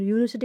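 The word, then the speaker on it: university: और यूनिवर्सिटी का साउंड है या उच्चारण है ये यानी कि वाई से होता है जो कि क्या है?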